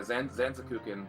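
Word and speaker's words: Zantetsuken: Yeah, Zanzakukin, that's how it's pronounced.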